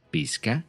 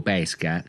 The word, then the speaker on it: pesca: è la parola pesca che posso pronunciare pesca appunto oppure pesca quando dico pesca culla è aperta quindi con l'accento grave su quella e io mi starò riferendo alla parola legata al frutto la pesca quella che